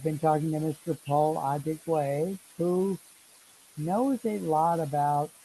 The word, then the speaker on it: Adigwe: So, ladies and gentlemen, we've been talking with Paul Adigwa. I am trying to say his name correctly. He's a Adigwe, very, Adigwe.